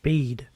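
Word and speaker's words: Bede: spelled word wait what pronounced the same as the English dictionary word bead why didn't you just spell it bead then why I spell it that way so his name is pronounced bead he going to do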